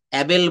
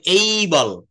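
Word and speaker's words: able: অ্যাবেল, ক্যাপাবেল আমরা এমনটি বলে থাকি, কিন্তু আসলে এটা আমরা অ্যাবেল বলবো না। এটার সঠিক উচ্চারণটা হবে এই বল, এই বল।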